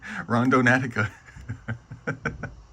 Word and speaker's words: Randonautica: Rondon Natica.